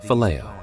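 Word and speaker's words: φιλέω: The second word is phileo, pronounced phileo.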